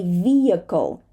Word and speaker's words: vehicle: or high and sometimes we even skip the H in the middle of a word as in this word vehicle we do not say vehicle we say vehicle vehicle dark l this